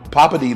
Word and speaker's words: Poppiti: That's it, Poppiti.